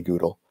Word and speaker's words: GDAL: little more easily than g dao and it was the original pronunciation if you asked the uh the founder of the google project how he pronounced uh goodl he would for many years say google um and then when